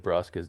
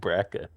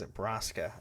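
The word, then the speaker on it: Braska: Cuz you said Brasa's name wrong. Did I? What' I say? You said Bracka.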